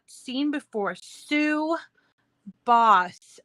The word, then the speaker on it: Bos: Sue Boss. It's I don't know if it's pronounced boss, but it's BOS. No double S. It's BOS.